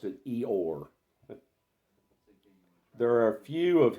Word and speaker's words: Io: named now they spelled it IO but they pronounced it eor there are a few of his attributes names